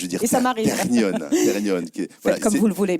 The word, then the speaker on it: Technion: Donc ma prononciation de Technion est parfaite. Alors, je vous le disais tout à l'heure, votre prononciation est parfaite. En hébreu, c'est Technion. En France, Technion. Et je vous le disais,